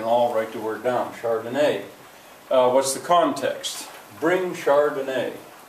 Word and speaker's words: chardonnay: liquor cabinet or whatever chardonnay it's a kind of wine a kind of white wine says josh yes that's right what's the etymology now it's wine the accents on the final syllable notice it's capitalized and